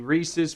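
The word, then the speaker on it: Rhesus: to nine subspecies of the Reese's monkey and it's not spelled like the candy it's I'm probably saying it wrong no you're right uh r h s u s and they're uh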